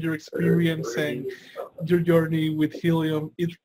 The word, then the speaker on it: Healium: can go to try helium common helium is spelled like healing H da Li um so try T ry h EA li um calm or you can